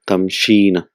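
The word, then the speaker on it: تمشين: So originally it is tamshiina. So because of ease in pronunciation and because of repetition, it becomes tamshina.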